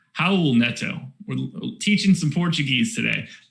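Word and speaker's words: Raul Neto: klein can hear me you don't pronounce uh the r like an r it's an h how old neto we're teaching some portuguese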